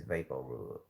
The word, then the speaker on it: VapoRub: big says and and what vic says is i'm not saying it right it's vaporub i don't know why